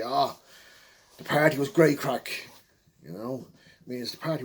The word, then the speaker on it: craic: great human so that's what we mean by crack or what's the crack hello what's the story